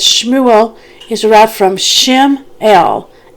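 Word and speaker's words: שמואל: Okay, so Samuel is actually, in Hebrew, is Shmuel. And there's a note in here in my Bible about how to actually pronounce it, and I'll get to that in a moment.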